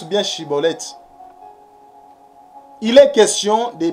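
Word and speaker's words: Shibboleth: La prononciation. Chibolette. Maintenant, Sibolette.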